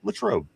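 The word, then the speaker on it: Latrobe: Uh it's Latro.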